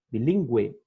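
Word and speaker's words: bilingüe: Para que a gente pronuncie o U, a gente tem que usar a trema, que é o diéresis. Bilíngue, linguística, ok? Senão, não vai ser pronunciado o U, assim como guerra e guitarra, tá bom?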